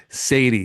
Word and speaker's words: Saadi: We're doing a Zoom interview with my friend George Sadi.